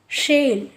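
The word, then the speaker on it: shell: शेल, शेल mean शंख, देखो सिक, सिक, सेल, स का उच्चारण देखिए, सी, लेकिन यहाँ पे श, शोर। शीप, शेल, ये सेल और ये सेल को देखो, सेल, और ये है शेल।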